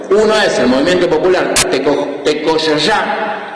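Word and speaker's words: Tekojoja: Uno es el Movimiento Popular Tecoyoyá, se escribe Tecojojá, se dice Tecoyoyá. Claro, en ninguno de los casos se dice como está.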